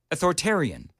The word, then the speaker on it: authoritarian: No, you kind of skip over the I sound in the middle.